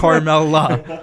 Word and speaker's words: Carmella: Yeah, and it's Carmella. Carmella. What are you, from Boston? New York? Hey, Carmella, you want a pizza? Okay, Carmella.